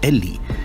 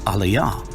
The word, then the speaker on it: Eli: What actually appears in Matthew's text is eta, lambda, iota, which conveys the pronunciation eli. What this shows is that we have an ancient text taking the position that the word is actually pronounced eli.